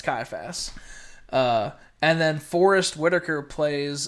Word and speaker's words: Caiaphas: Ben Kingsley as High Priest Caliph, or I forget how you say his name, but Where's my father-in-law? I think it's Caiaphas. It's Caiaphas.